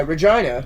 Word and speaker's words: Regina: And that's why Regina rhymes with butt.